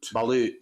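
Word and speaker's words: balut: pull one up um how you spell it b l l u t I think bot ballute sorry I said I was saying bullet sorry oh here we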